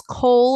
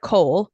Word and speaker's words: kohl: And so Egyptians would call this kohl, of course, because it would be used it's like kohl, like the black of coal. It's spelled like the department store.